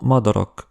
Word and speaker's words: madarak: Le A court est peut-être le son hongrois le plus difficile à bien prononcer pour un francophone : [ɒ] comme dans madarak (oiseaux).